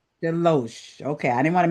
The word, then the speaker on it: DeLoache: Delo.